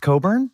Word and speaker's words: Cockburn: Wait, it's really pronounced Coburn? It Okay, but this is the thing. In In Scotland, it is pronounced Coburn.